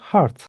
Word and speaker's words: heart: Bir telaffuzla ilgili genelde bu kelimeyi böyle HT gibi hani söylemeniz belki gelebilir tahmini olarak ama HT değil bu. Hart diye söyleniyor.